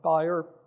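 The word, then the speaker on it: Bayer: off a gig with buyer be the way we pronounce it here in the US and right now I'm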